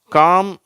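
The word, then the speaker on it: calm: வச்ச ரிப்போர்ட் வருதுன்னு பார்ப்போம் காம் பாம் எல்ம் பில்ம் இந்த ரெண்டு வார்த்தைல எல் வந்து சைலன்ட் ஆயிடுது ஓகேவா இந்த வார்த்தைகள உச்சரிக்கப்படுகிறது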